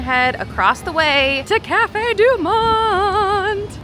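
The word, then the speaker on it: Café du Monde: We're going to head across the way to Cafe Deont. You have to say it like that.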